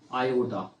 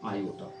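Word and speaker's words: iota: को हम लोग क्या उच्चारण करते हैं, क्या प्रोनाउंस करते हैं? आयोटा। इसको हम लोग बोलते हैं आयोटा।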